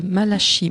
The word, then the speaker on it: Malachi: pour un ouvrage de malashi Martin je prononce à la française intitulé La Maison batue